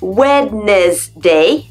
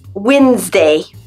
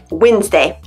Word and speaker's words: Wednesday: mot qui est en en apparence c'est dit wednessday non c'est c'est clairement écrit là mais non bah ça se prononce Wednesday Wednesday Wednesday ça serait tellement plus simple de l'écrire